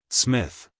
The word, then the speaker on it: Psmith: what is your name Smith the p is silent well Mr Smith I